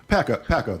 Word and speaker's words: Pakko: That's how you pronounce it, right? Pakko, that's right. Pakko, Dr.